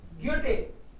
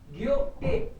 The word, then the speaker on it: Goethe: So generally H is silent in the middle. So maybe you can read it Goethe. Goethe.